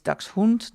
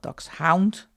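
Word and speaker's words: Dachshund: Uh, and it is ducks hoot, not ducks hound. There is no hound in hound coloring book. I know some people have really trouble pronouncing ducks hound, but it's German.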